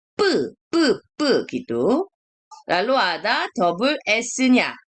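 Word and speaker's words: ㅃ: Ini bacanya 뿌 gitu.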